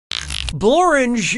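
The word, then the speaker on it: Blorenge: Blorange is a real place, and it really rhymes with orange.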